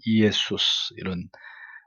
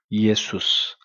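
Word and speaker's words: Ἰησοῦς: 그러니까 정확하게 얘기하면 이에수스 이런 발음이 되는데 한글로는 예수라고 했죠. 그러니까 이에수스. 영어의 지저스보다는 우리 한글이 더 예수님을 그래도 원래의 발음에 가깝게 그렇게 표현한 거예요.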